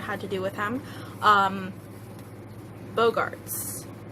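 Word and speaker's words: Boggarts: Bogarts, I believe is how it's pronounced.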